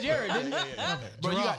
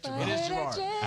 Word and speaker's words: Jarard: r a r d if you sound that out it says Gerard it doesn't say Jared it says J people don't